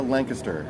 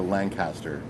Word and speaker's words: Lancaster: Isn't that how locals say it, Barbara? Lancaster, as opposed to Lancaster.